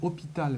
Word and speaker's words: hôpital: Alors le mot hôpital, on le prononce bien hôpital, même s'il y a un S, mais quand il y a cet adjectif-là, on dit inhospitalière.